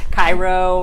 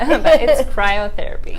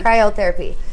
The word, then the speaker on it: cryotherapy: with ice lounge Kyle cryotherapy uh-huh forget I pronounced it wrong yeah I know it's okay everybody Kairo we get that a lot cryotherapy cryotherapy yeah so Jackie can you start off by